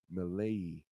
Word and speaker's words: Milei: Oh yeah, Javier Milei, right? That's how you pronounce that one.